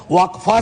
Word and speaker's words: वक्फ: और अलग अलग लोग इसका प्रोनाउंसिएशन अलग करते हैं, कोई वक्फ बोलता है, कोई वकफ बोलता है।